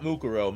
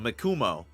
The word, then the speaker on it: Mikumo: Not Mukuro, Mikumo.